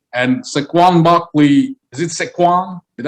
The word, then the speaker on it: Saquon: And Saquon Barkley, is it Saquon? Did I say it right? Saquon.